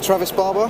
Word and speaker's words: Travis Barbour: So I'm here with Travis Barbour. Yeah. Have I pronounced it right? Yeah, that's right.